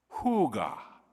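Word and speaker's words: hygge: contentment and well-being and it's pronounced yeah it's pronounced Huga I don't know how they get that from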